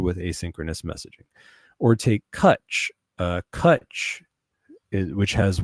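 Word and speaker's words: Cwtch: Cut is spelled C W T C H. Why is Cut spelled with a W there instead of a U? Because it's Gaelic.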